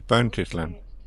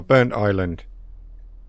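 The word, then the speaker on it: Burntisland: been saying it has burnt his land there we are burnt Island uh that's how it's properly pronounced not burnt his land as I pronounced it because there's no space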